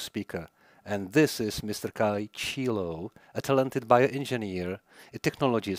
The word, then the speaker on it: Ciullo: I hope I made your pronunciation of your surname correctly. Ciullo.